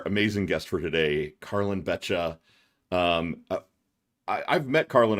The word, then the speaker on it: Beccia: bring in our amazing guest for today, Carllin Betcha.